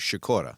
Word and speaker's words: Sikora: time Sakura have you unless you pronounce it the Polish way which uses shakoora okay okay so then I'm